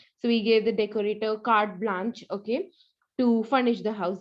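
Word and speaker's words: carte blanche: okay no doubt that the pronunciation is card blank bla card blanche sorry card blanche okay so uh but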